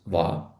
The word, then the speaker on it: は: Наприклад, у вас запитали: "Чим ви займаєтесь?" І ви відповіли: "Я студент гакedс". Давайте перейдемо до частки ва. Вона читається як ва, хоча написується за допомогою хірагани ха.